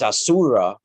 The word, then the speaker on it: Asura: uh shift you know and and a little syllable shift but it's it's in uh in persian it's ahura a-h-u-r-a right and it's asura in uh vedic but it's in in uh